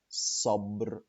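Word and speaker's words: صبر: sub which means patience see the pronunciation so sub sub the Arabic ray not the English one okay another question when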